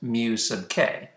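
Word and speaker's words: μk: the kinetic friction force this symbol is the greek letter mu so this symbol is pronounced mu sub k mu sub k stands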